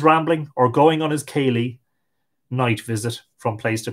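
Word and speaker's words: céilí: or going on his Kaylee night visit from place to place. Now, that's spelled K-I-L-E-E, but of course, that is an anglicization of the word C-E-fada, I-L-I-fada, Kaylee, which means a dance or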